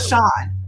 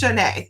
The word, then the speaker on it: Shanae: It's not Sean. It's Shanae.